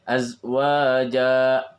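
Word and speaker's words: أزواجا: Ketika misalnya kita berhenti di azwaja, azwaja juga sama. Ketika menjadi mad iwad, maka bacanya 2 harokat. Ya. Ayyubdilahu azwaja, azwaja, azwaja, 2 harokat. Yang membaca ayyubdilahu azwaja, harusnya azwaja.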